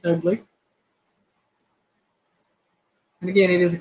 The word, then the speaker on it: Ugli: I only know the one, and it is an ugly fruit, and it is spelled UGLI, ugly.